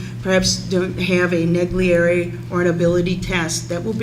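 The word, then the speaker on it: Naglieri: spell that for me, please. I can never remember it. Is it Neglieri?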